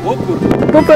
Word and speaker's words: Bober: You have to say it like you're Polish. Booker.